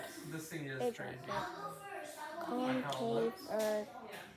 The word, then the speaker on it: Concavenator: Pronunciation Concavenator. This thing is strange. Concavenator.